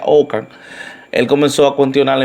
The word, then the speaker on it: Ockham: Inglaterra, pero en realidad su último nombre se pronuncia Ockham.